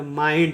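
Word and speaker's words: mind: करेंगे ठीक है देखिए एम का उच्चारण होगा म आई का उच्चारण यहां पर भी करेंगे आई तो हो जाएगा मा और एन का उरण होगा न न के लिए एक बिंदु देंगे और डी का होगा ड इसको पढ़ेंगे माइंड इसको पढ़ेंगे माइंड ठीक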